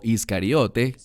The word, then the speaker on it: Iscariote: Se trata de Judas Iscariot, o Iscariote, como normalmente se pronuncia en español.